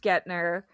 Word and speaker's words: Guentner: It's pronounced Gner.